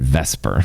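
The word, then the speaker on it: VSEPR: a lot of syllables let's call it Vesper cuz that's a lot easier to say Vesper Theory two Lew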